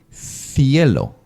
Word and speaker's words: cielo: Then coming with the letter C before I, cielo, for sky. It's exactly the same. Your tongue has to stay between the upper and down teeth. Cielo, cielo.